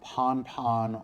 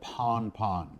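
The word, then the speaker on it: pan-pan: one is pon pon this is pronounced pon pon or simply put pon pon and this is used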